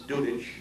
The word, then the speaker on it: Dudycz: It's taken me 2 years to pronounce Dudycz and learn how to spell it.